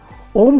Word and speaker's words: ओम: बनी अ उ म इसमें अ शब्द ब्रह्मा वाचक है तथा इसका उच्चारण हृदय से होता है उ यह इसका उच्चारण कंठ से होता है तथा यह विष्णु वाचक है और म इसका उच्चारण मध्य तालू से होता है तथा यह रुद्र का वाचक है जैसे हम मानते हैं